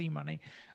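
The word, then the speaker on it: eMunie: um back in the e-money days i know that it's spelt e-muni but it's pronounced e-money uh i have it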